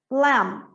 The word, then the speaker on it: lamb: Lamb, mesma coisa, ó, B depois do M não pronuncia, então eu pronuncio só lamb.